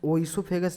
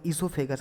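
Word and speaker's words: oesophagus: जैसे कि हम ईसोफेगस जो होता है उसमें आगे हम लिखते हैं ओ ई, लेकिन उसे प्रोनाउंस ओ ईसोफेगस नहीं कहते, हम ईसोफेगस कहते हैं।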